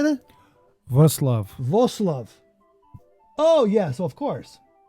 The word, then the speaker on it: Wrocław: Wrocław. Wrocław. Oh, yes, of course. Hey. Wrocław.